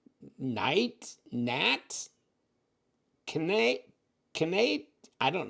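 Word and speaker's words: Knaiat: I mean you could k n a i a t KN Nat can can can I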